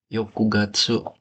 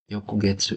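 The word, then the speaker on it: 翌月: Bacanya Yokujitsu ya. Yokujitsu. Itu sama kayak Asta. Terus Raishu berarti Yokushu, Raishu, apalagi ya? Yokugatsu, Yokugetsu, sorry.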